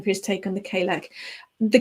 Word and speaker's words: Cailleach: I pronounce it Cailleach because I'm English, but Cailleach, Cailleach, it's got that on it. But I've also heard it pronounced Cailleachi. So I think with something like that, there's no right or wrong as such. It just depends on your take on it and what your accent is.